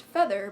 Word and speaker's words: Faether: then dragon DRA gon and then feather is pronounced feather but spelled FA ETA G R and when